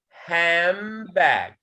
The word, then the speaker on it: handbag: So han, it changes into ham. So we will pronounce it handbag.